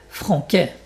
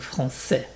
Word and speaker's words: français: Franquet, franquet, c'est pas français, donc français.